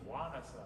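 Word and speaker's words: ϝάνασσα: But in Mycenaean Greek it was Wanasa, they had a Diana in front of it.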